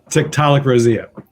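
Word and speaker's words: Tiktaalik roseae: Schuman will you help me out with this of 375 million year old fossil called Tiktaalik Rosia thank you so much it's considered an important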